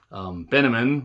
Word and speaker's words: Benjamin: Benjamin rhymes with cinnamon, was a funny line.